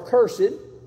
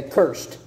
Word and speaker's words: cursed: passage of Scripture because the word cursed or cursed, depending on how it's used in the sentence, some pronounce it one way, some another. I think I'm from Kentucky, so I'll say cursed. I think the highbrow people say cursed, you know, cursed or cursed, the same word.